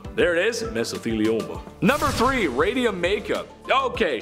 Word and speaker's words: mesothelioma: and he says have you been affected by mesothelioma and or because of exposure to asbestos then